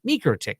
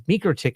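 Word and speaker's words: MikroTik: Latn I guess, uh they say microtick because microick is how it would be said to them in their native language. So it actually seems to have two pronunciations that are both correct.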